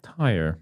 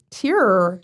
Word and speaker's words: Tyr: How would you pronounce that? T-Y-R? Yeah. Tire. Tyr, Tyr. Tear. Tyr.